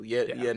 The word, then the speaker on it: 円: I don't know if they brought this up, but you would drop this Y when pronouncing yen. Oh, yen is just it is N.